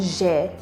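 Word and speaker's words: ژ: From now on, we're gonna go with je. To pronounce je, think of vision. The je in vision. It should make your mouth tingle a little bit.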